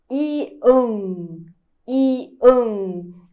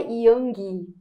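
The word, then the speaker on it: 이응: Ian, ian, e não é yang, tá? Aqui a gente não vai pronunciar o som de G, tá? Não tem. Então, é ian, ian.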